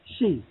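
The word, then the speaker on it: Xi: It's She, like yo, she, you know, yo, she's real nice, yo.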